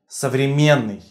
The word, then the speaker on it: современный: You do not pronounce N twice. So, it is not pronounced as современный, you pronounce it once. Современный, современный. One consonant with one sound.